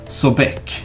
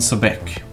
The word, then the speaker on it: Sobek: pronounce any name wrong I'm just said Sobek sorry I mean so BEC so that's the thing